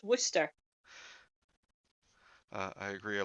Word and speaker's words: Worcestershire: Worcestershire sauce. It's not. It's Worcester sauce. Yeah. They don't pronounce the Shire. It's just Worcester.